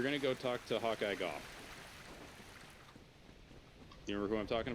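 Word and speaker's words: Gough: go talk to hawkeye golf you remember who i'm talking about uh guy oh what the yep i found it okay yeah okay hawkeye goth goth well i guess it's actually pronounced go but um uh for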